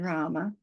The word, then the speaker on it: Rama: then we've got Rama that's a long a in Rama so we've got we we did the R so here's the r and it's a long a so we do that ra and the ma is